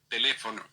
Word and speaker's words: teléfono: Teléfono. Teléfono. Teléfono means of the phone, and the accent is on the second syllable where you have the accent already shown on the letter over the letter E.